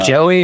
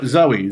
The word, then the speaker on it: Zoe: Uh, is it Joey or Zoe? Zoe. Zoe with a Z.